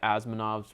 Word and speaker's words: Asimov: He's a part of the Asimov's law, or however you pronounce his name. Asimov.